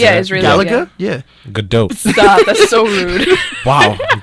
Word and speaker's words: Gadot: Gal Gadot. It's spelled G-A-D-O.